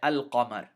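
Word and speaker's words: القمر: So we say al-Qamar. Al-Qamar. We pronounce the lam clearly, separately from the qaf.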